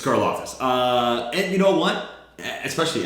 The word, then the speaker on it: Karlaftis: It's Karlaftis.